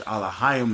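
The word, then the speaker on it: אלהים: You have Alahayim, which Alahayim is how you say gods in Hebrew. Allah, when you add yum at the end of the word, it makes it plural.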